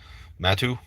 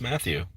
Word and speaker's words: Matthew: name all the time my name's matthew and they're like matu like what how did you get that i mean it's not